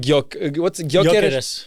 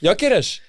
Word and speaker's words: Gyökeres: And also, let's put on Gyökeres. Gyökeres. I don't know if it's Gyökeres or Gyökeres.